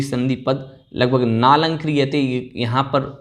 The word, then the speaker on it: नालंक्रियते: नालंक्रियते, आपको यहाँ पर बोलना है नालंक्रियते।